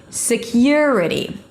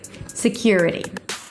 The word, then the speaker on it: security: Security. Secure. Your as in your your country. Security.